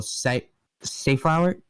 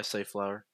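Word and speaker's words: safflower: to visit her sister's family during the annual site safe hour yeah say flower uh okay safe flower Harvest uh on the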